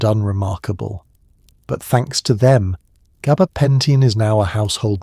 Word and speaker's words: gabapentin: You watch as they gently repeat the correct pronunciation, gaba, pen, tin, in the same tone